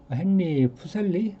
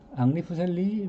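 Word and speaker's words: Henry Fuseli: 그 다음에 그 헨리 푸셀리, 앙리 푸셀리, 뭐 헨리 푸셀리라고 읽을 수 있는 그런 사람인데 스위스 화가인데 이분 그림 내가 왜 갖고 가죠?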